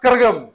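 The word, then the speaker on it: Kazhagam: आप देखते होंगे DMK, द्रविड़ मुनेत्रा कजगम, है ना, लेकिन इट is pronounced as Dravida मुनेत्रा करगम, all India Dravida मुनेत्रा करगम, ठीक है।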